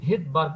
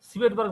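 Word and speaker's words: Svedberg: এসটা আসলে এস কে বলা হয় ভেদবার্গ ইউনিট ভেদবার্গের বানানটা হচ্ছে এস ভিইডি বি আরজি বাট এসটা উজ রাখায় একে আমরা বলি ভেদবার বলা হয় সিটবার্ বলা হয় না বলায় ভেদবার এসটা মানে ভেদবার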